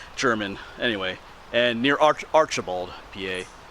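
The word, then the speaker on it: Jermyn: just south of the town of German. It's not spelled like German, it's spelled J-E, it's spelled differently, German, anyway.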